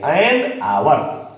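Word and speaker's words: hour: तो इसके पहले इसका प्रोनाउंसिएशन जो है, इसका उच्चारण जो है, वो वोवेल के अनुसार हो रहा है। हो रहा है ना? इसलिए इसके पहले हम क्या लगाएंगे? एन लगाएंगे। एन आवर, एन आवर।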